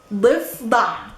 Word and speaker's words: ضفدع: ضفدع ضفدع ضفدع ضفدع. Difficult, super difficult because it has one da. The first da is a guttural da, and it's vocalized with the e.